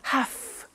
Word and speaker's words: have to: a computer at work now did you hear my pronunciation I have to notice I don't say V I say F have half it becomes have to